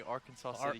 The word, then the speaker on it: Arkansas City: different we pronounce the we pronounce it a little different in Kansas the river and the town so but uh yeah